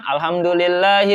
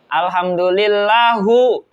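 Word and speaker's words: الحمد لله: Contohnya kayak mendomahkan lapad ha di alhamdulillah, dia bacanya bukan alhamdulillahi rabbil alamin. Dia bacanya alhamdulillahu rabbil alamin.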